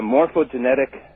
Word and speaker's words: morphogenetic: Well, Rupert postulates the existence of what is referred to as a morphogenetic field.